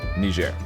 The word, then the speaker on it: Niger: I pronounce it but I have heard from people who have actually traveled there that the people in Niger pronounce it Niger so uh anyways it